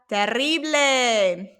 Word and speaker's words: terrible: Then we have terrible. Notice how I roll my R. You don't have to roll your R, but if you want to